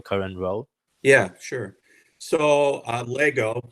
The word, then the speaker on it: Lego: with your time at Legos Sure. up to your current role? Yeah, sure. So Lego, Lego likes to pronounce the Lego not with the S, because then you start to get into generics.